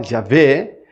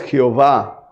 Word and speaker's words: Jehová: y de ahí salió dos pronunciaciones en latín una es Ya ve o jagua yahvé y otra es Jehová por eso algunas biblias